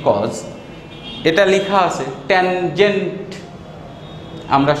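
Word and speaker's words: cos: এখানে লেখা আছে কোসাইন, আমরা সংক্ষেপে এটাকে বলি কজ।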